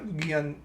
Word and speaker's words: Giancarlo: Giancarlo? Gian?